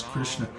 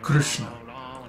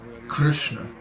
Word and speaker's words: Krishna: hear north indians pronounce krishna or like that but actually the way to should be pronounced krishna krishna there is no i no krishna krishna so